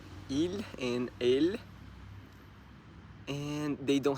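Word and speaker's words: ils: As I understood, because he and she is il and elle, and the plural is il and elle. The pronunciation is the same.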